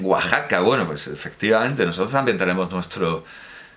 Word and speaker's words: Oaxaca: se dice Texas o qué pasa con Oaxaca que es Oaxaca y allí dicen Oaxaca Bueno pues efectivamente nosotros